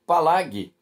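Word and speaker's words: פלג: É interessante, que a expressão se partiu na língua hebraica, ela é pronunciada por Palag.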